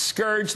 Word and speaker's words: scourge: and not even saying it's Scourge not scorge it's he what gim